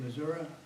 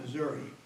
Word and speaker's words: Missouri: say I served civilian congregations in Kansas City Missouri that's how you pronounce it Missour not Missouri Missouri where I had the privilege of uh